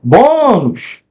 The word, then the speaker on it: bônus: Por que que ela é uma paroxítona? Porque a sílaba tônica ela está aqui, né? Bônus. E terminou com o S, tá?